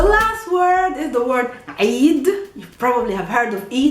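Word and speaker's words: عيد: Eid. Eid. Happy Eid. Not Eid.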